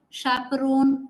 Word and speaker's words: chaperone: So chef, chauffeur, chaperone, lot of words which begin with ch but are pronounced as sh.